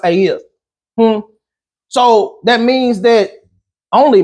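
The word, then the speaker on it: את: In the Hebrew, it's aeth. It's spelled ETH, I believe, but it's pronounced aeth.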